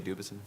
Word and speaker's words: Dubuisson: So on the panel, at the end we have Dubuisson. I assume that's how we would pronounce it in Canada. It should be that French. Yes. I just say Dubuisson.